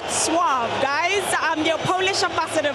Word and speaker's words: Wrocław: So, it's something to the effect of Vuave. So, I know it looks like rock claw. That's not quite it. Vuave, guys.